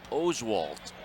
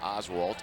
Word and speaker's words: Oswalt: the Astros pitcher correctly it's Roy Oswalt and a couple of starts ago finally the Astro people found out that it's not Oswalt it's Oswalt here's the first pitch